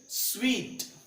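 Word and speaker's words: suite: It's table it is table right next is स्वीट।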